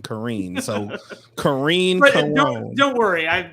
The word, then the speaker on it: Careen: kareem yeah i know i know the word care is in my name and i care a lot but it's it's kareem kareem so karine don't worry